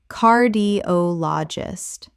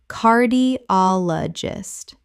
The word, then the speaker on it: cardiologist: Cardiologist. Correct pronunciation. Cardiologist. The stress falls on the third syllable. Ol. Five syllables.